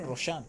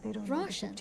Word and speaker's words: Roshan: Not Roshan. Roshan.